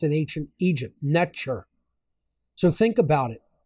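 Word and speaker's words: netjer: was actually not pronounced neter that's the English equivalency phonetic it was actually pronounced n the t is a CH sound hard like TCH neure that's how it was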